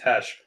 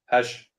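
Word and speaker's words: Kash: one with um or I think it's actually pronounced hash Cash Cash no I think it's cash he always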